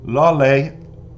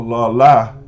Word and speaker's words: Laleh: Now, Laleh or La La, depending on your pronunciation, is intriguing to say the least.